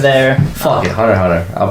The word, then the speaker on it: Hunter x Hunter: Fuck it, Hunter x Hunter. I'll pronounce it correctly. Hunter x Hunter, Hunter. I didn't realize it was like the X was supposed to be a space in the title until like I rewatched